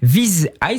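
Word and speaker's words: Viz.ai: Nouvelle licorne avec Viz Eye, ça se prononce comme ça Eric ?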